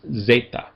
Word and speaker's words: zeta: And then after epsilon is zeta. And zeta has a z sound as in days.